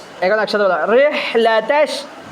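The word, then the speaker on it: رحلة: রিহ রেহ রিহ এখানে কেউ কেউ পড়ে কি লিহ লাম উচ্চারণ করে লাম উচ্চারণ হবে না কি হবে র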